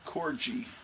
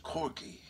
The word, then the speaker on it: Corgi: I used to pronounce it Corgi, because I didn't know how it was pronounced. I just saw it on the bottom of toys, and of course in the 90s, this British girl sternly reprimanded me and said, "It's pronounced Corgi."